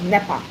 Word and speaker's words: NEPA: people don't know that you pronounce as a word like nepa. So it's NE A. We don't say N E. We call it NEPA.